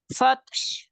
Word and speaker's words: فتح: ওয়াল ফাতহ, হাটা স্পষ্ট করবেন, হ্যাঁ, যত সম্ভব হাটা মানে যাতে শোনা যায় এরকম ভাবে উচ্চারণ করবেন।